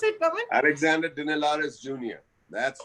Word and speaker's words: Dinelaris: Is that the way to pronounce it, Pawan? Alexander Dinelaris Jr.